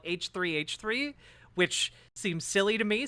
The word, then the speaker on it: H3H3: me on he he which I've now been told is not how you pronounce the name of the the podcast you call it h3h3 which seems silly to me since he he is right there and